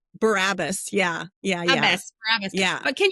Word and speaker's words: Barabbas: the concern, you're not yelling for Jesus or Barabbas.